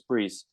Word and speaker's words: Brice: they would always say Bryce but I said no it's priests so I I just stuck with the the French pronunciation because the i in